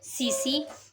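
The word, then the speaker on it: tsetse: सीसी flies. ठीक है, इसमें टी साइलेंट है, हम इसको सीसी फ्लाइज बोलेंगे।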